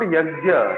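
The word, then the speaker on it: यज्ञ: It's not Yajna, it's Yajna. Yajna. Okay? Yajna. Yagnya. Not Ga is where is Ga? Where is Ga? not ga.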